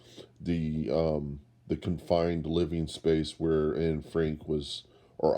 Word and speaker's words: Anne Frank: The actual situation, they actually tried to reproduce as much as possible the confined living space where Anne Frank was, or Anna Frank.